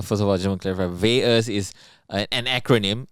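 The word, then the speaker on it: VAERS: vas is uh first of all german clever vas is an acronym it's spelled v-a-e-r-s and it stands for vaccine adverse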